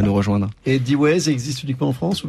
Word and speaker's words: Deways: Et D-Ways existe uniquement en France ou bien est-ce que c'est une aventure qui peut s'internationaliser comme celle de notre invité?